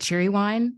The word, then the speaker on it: Cheerwine: signs up for something it's it's spelled Cheerwine c-h-e-r wine okay I was like what's cheer one and they're like oh you've never had cherry wine that's how they say it apparently got it oh